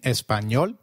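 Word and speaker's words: español: how to pronounce it the letter a is pronounced as ah as in father did you notice the letter enye in espanol this letter is peculiar to spanish it is pronounced as knee like in canyon so can you try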